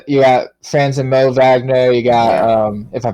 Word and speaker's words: Wagner: go with that um I always thought it's pronounced with a V I know it's spelled with W but U regardless um